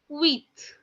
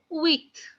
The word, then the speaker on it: huit: 8 is written down as HUIT, and it is being pronounced as wheat, wheat, wheat, wheat.